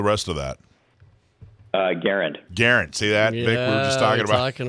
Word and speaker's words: Garand: himself and his family pronounced it with the emphasis on the first syllable so um in deference to that i i have been pronouncing it garen it's like saying larry